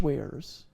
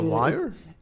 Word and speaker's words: weir: what you call fish wares. You know what that is? Okay, like fish wares, like fishing goods? No, it's spelled WEIRS, so a ware. A wire? No.